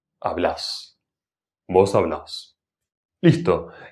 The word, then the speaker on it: hablás: Paso número tres, finalmente agrego. En la última sílaba. Hablás.